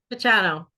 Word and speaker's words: Picciano: last name and I'm gonna screw it up pachani did I say it right pachano pachano this is pachano is a